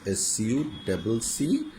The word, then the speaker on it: succeed: and you will succeed SUCCEED succeed বানানটা খেয়াল করবে SUCCEED বলে আধুনিক প্রনাউন্সিয়েশন যদিও ডাবল শব্দটা বলে না EECC হ্যাঁ যেমন ধরো তুমি